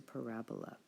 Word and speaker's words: parabola: It's a parabola.